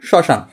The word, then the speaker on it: শ্মশান: কিন্তু এটার উচ্চারণ শ্মশান।